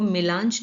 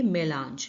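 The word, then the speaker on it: mélange: इसको प्रोनाउंस करना, इसको मेलांज नहीं कहेंगे, इसको कहेंगे मेलांज, मेलांज।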